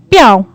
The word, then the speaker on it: 票: 票 Piao.